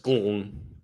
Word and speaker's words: Glenn: I don't know what you're talking about, but the E is silent in Glenn. It's just Glenn.